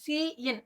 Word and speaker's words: cin: இது எப்படி ப்ரொனவுன்ஸ் பண்ணணும்னா cin அப்படின்னு தான் சொல்லணும், சின்னுலாம் சொல்லக்கூடாது. cin, சி தனியாக இன் தனியாக சொல்லணும்.